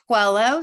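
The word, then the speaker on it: Coelho: is also chaired by former Congressman Tony says pronounce that for me well solo guello so well yeah I love it original author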